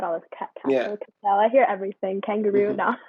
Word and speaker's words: Cassell: The E can be pronounced like castle. Because I put it on Google traduction, Google Translate to make sure the pronunciation, and they say Cassell. And actually it's wrong. It's like Cassell, so it's kind of like Cassell. Yeah, no, kind of like French.